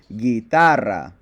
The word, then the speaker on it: guitarra: So, where will the natural accent be? You got it. Second to last syllable. So we would pronounce this guitarra. Guitarra. If you don't know why the U is silent here, then you need to